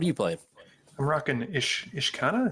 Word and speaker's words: Ishkanah: I'm rocking Ishkanah. Is that how Ishkanah? Ishkanah? I pronounce it Ishkanah.